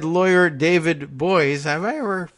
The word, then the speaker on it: Boies: Epstein and his co-conspirators said lawyer David Boies I were pronounced his name correctly that's the famous one